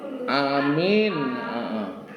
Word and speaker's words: amin: Jadi A-nya yang panjang, A-nya panjang, kemudian ada cengkokan, ada goyangannya gitu, no. Maksudnya amin. Tapi enggak tasdid, tapi mimnya enggak tasdid.